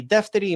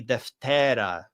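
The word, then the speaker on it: δευτέρα: So I defteri imera, the second day, traditionally would have been pronounced I deftera imera, right? I deftera imera, because the alpha is long and it pulls the accent over to it.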